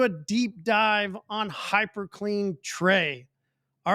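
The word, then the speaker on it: Tre: But how many times the mismounts pronunciation and they'll say hyperclean trace. Yeah, probably one of the biggest mispronounced words in our lineup for sure. And funny, because we go, Yeah. how does anybody ever think tray goes trace?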